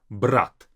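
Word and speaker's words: брать: Brat. Now, brat is different from brat. Brat is to take, brat is brother. The difference is in the very last t.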